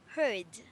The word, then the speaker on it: heard: So you will pronounce this with a D. So you pronounce this as heard. Heard.